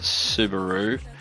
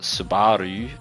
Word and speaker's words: Subaru: Because in Australia I think we call it Subaru. In New Zealand they call it Subaru, and then in Japan it's Subaru as well.